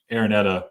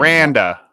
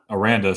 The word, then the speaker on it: Aranda: to your original Point Dave aretta or I forget how to pronounce his name Aranda Aranda sorry this is you know